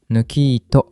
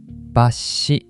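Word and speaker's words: 抜糸: Không đọc là "nukiito" đâu. Đọc là "basshi".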